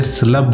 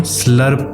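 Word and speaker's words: slurp: ये जो लफ्ज़ है इसमें अगर ब्रिटिश एक्सेंट देखेंगे तो उसमें ब्रिटिश एक्सेंट में हम इसे स्लब बोलते हैं। स्लब यानी कि आर साइलेंट होता है, जबकि अमेरिकन एक्सेंट में हम स्लर्प बोलते हैं। स्लर्प यानी कि आर को हम प्रोनाउंस करते हैं।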